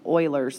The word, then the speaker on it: Euler's: I know this word doesn't look like it should be pronounced as Euler, maybe like Euler's theorem, but it's really pronounced Euler's theorem.